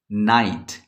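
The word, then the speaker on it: night: को नहीं पढ़ेंगे तो ये हो जाएगा नो नाइट इसमें जी और एच कलेक्टिवली गायब है जी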